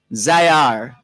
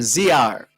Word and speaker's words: Zihar: Name, okay, the name is spelled Zihar. Let's see. Zaya, Zihar. No. Being Jamaica and talking Jamaica, I don't think they would pronounce the H. I don't know. Zayar, maybe Zayar or Ziar. Zayar, perhaps.